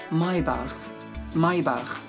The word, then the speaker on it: Maybach: It's very famous, we call this Maybach. This is German. But English pronounced Maybach. Both of them are okay.